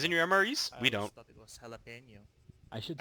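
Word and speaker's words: jalapeño: Galapo cheese. Oh, damn it. You guys get cheese. Say jalapeno. Yes, that's how you say it when it comes out of an M.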